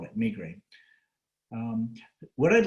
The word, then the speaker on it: migraine: or multiple sclerosis or migraine i call it migraine if i come back to that you'll just i'll hopefully persuade jim to pronounce it correctly the world's becoming globalized and